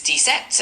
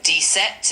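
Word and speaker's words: dix-sept: Number 17 in French is detect and it's spelled D I X S C P.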